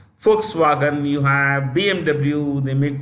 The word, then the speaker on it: Volkswagen: Volkswagen pronounced with a written with a V pronounced an F Volkswagen you have BMW they